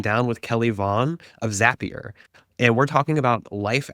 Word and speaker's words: Zapier: Oh, the pronunciation of the company is Zapier. Thank you. Always remember that Zapier makes you happier.